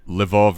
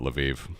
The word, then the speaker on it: Lviv: Ukraine we call it I think it was called lvav at one time depending on you know which language you speak how you pronounce it levov is the Russian name let's leave that out let's call it Lviv yeah Lviv I'm happy to to call it that um you know I